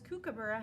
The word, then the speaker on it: kookaburra: Kookaburra is up here, and it's a ticka ticka because Kookaburra has 4 syllables in it.